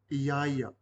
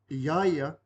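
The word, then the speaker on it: ia: we're focusing on the last word y this is spelled i a i a repeat after me Yaya Yaya translates again to him or her doesn't matter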